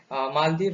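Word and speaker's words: Malé: Malaysia का Kuala Lumpur है। मालदीव का माले है। देखिए मेल की तरह लिखा हुआ है, बट इसे पढ़ेंगे शायद माले, हमने इसे माले प्रोनाउंसिएट किया है।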